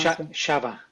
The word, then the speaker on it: Shava: Is so sha or shava? How do you pronounce shava? Shava. Yeah. Shava. Yeah. Shava. Shaba. Like a shaggy.